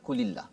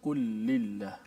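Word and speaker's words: قل لله: Dia kena qul lillah ke qulillah? Kena baca qul lillah. Qul lillah. Okay. Maksudnya lam tu kena, betul. Lam yang pertama mati, qul, kemudian di idgham atau masuk dalam lam yang kedua itu.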